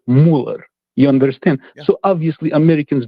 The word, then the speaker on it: Müller: The last name uh like the basketball player Andre Miller, the correct pronunciation is Müller.